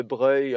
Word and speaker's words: Broglie: Brogli mais ils ont gardé une espèce de prononciation plus italienne don de Breuil un peu comme des BR en italien bref mais c'est juste pour vous dire prononcer ceci DEBRE Louis debreil et troisièmement on va